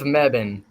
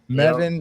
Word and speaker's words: Mebane: City of Mebane. Yeah. Mebane, North Carolina.